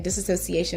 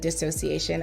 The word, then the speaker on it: dissociation: pointed out that I was saying disassociation instead of dissociation I appreciate you guys